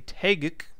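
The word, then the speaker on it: Taeguk: As for the gems, we are running a Tagic, not a Tagic, as I like to say, but a Tagic, as it is properly pronounced.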